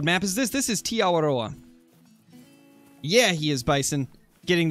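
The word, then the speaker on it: Aotearoa: That's how it's pronounced, is Tiawaroa. And it's not really an accent, it's just rolling the R. Tiawaroa.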